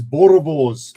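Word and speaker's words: Boerewors: So, what you're after guys, Borovs is how you pronounce it.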